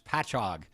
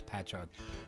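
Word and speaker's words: Patchogue: pronounce the town it's patch hog and the way to think of it is like catalog you know or epilog ends with OGE but it's patch hog but it's okay you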